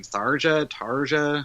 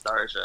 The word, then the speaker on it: Tharja: I mean, the Mirages that they pick outside of Crom and I never know how to say her name. Tarja. I think it's Tharja. Yeah, Tharja? I always say Tharja.